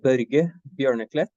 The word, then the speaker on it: Børge Bjørneklett: podcast series yes so my name is bur berlet it's a yeah it's a tricky name to pronounce sorry with o with a slash across the Scandinavian letter so um yes I'm